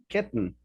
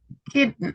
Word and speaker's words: kitten: another way uh with kitten kitten okay okay so what do they have in common guys all these words that you don't pronounce the letter t as we know but